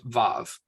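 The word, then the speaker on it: וָו: And then vet and vav are both v as in volley.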